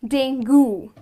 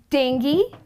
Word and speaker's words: dengue: it's quite disturbing so this disease is pronounced as dengue very commonly people pronounce it as ding goo but that's incorrect the correct pronunciation is dingy and not dangu okay so the next